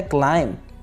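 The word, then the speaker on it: climb: मैं इसी तरह से चढ़ाई के लिए जला सिस्टम होता है क्लाइंब भी साइलेंट यहां पर क्लाइंब में अलमारी के इंग्लिश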